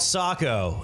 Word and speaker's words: Saco: I mean, I live in a place called Saco, and everybody pronounces it, hey, so how do I get to Saco?